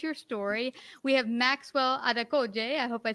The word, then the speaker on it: Adekoje: latest series unleash your story we have maxwell adekoje i hope i said it right that's that's fantastic no i tell you what you're 1010.